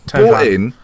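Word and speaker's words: Thauvin: Tovan.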